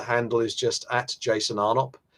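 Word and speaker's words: Arnopp: My Twitter handle is just at Jason Arnott, 2 P's. Although the first P is silent, don't go pronouncing that P.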